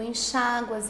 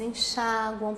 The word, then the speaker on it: enxágua: Se você pronunciar assim, com a sílaba tônica recaindo no U, aí ele não é acentuado. Então, se forem pronunciadas com um tônico, essas formas deixam de ser acentuadas.